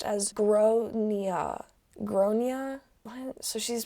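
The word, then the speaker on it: Gráinne: She asked what it meant, and I said, well, in Ireland, they typically pronounce it like Gronia.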